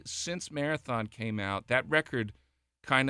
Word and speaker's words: Marathon: It's pronounced Marathon Marathon Songwriters Festival uh which is August 7th to the 9th this year.